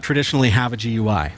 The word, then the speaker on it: GUI: with your Start menu gonna get somebody saying you said it wrong it's gooey so here on a server